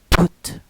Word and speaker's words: put: No. Put, close your mouth.